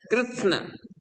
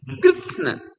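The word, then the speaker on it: कृत्स्न: कृष्ण कृष्ण एक साथ कृष्ण आधा त आधा स और न कृष्ण दो ही अक्षर बोलना है।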